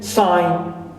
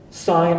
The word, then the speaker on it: sign: example have sound here the G is omitted like in sign design clear sign and design and followed by that's